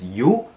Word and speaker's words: jo: this little adverb right it's an adverb just you how it's pronounced specifically just straight out you that's it